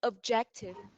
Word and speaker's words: objective: okay the five one objective no no the second syllable okay objective objective perfect okay thank